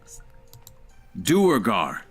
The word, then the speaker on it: Duergar: Duergar.